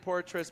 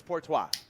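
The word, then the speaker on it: Poitras: It sounds like Portras, but it's Portois.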